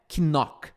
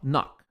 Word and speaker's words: knock: Primeiro, você não vai falar esse que. Então não é knock. Não é knock, tá? É tipo assim, ó, knock.